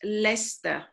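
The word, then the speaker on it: Leicester: a city in England that pronounced different okay Lester so this is this is another word okay so spelling you should you know pronounce as my sister but they pronounce Lester Lester okay Gloucester this one this one Gloucester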